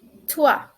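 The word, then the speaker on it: trois: is three three in french it would be tua tua tua please focus on the pronunciation then our next number is 4 4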